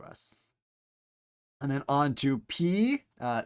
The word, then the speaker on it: pi: and then on to p uh not pronounced pi as in mathematics but P so if you want to ruin Pi Day you can start calling it pday uh line across the